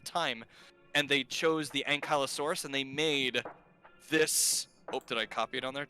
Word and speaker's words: ankylosaurus: movies i love it this so it's it's pronounced anchalosaurus ankylosaurus yeah and callosaurus all right so don't tongue